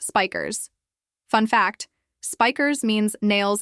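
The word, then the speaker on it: Spijkers: His first opponent, a Dutch judoka named Ben Spikers, though apparently it's pronounced Spikers.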